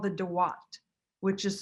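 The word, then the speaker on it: Duat: on your way to the afterlife, called the Dawat, which is spelled either D-U-A-T or D-W-A-T.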